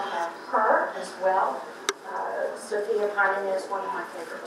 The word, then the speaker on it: Panina: So first of all, people often ask, well, how did you become interested in Countess Sofia Vladimirovna Panina? The accent is on the first syllable, Panina.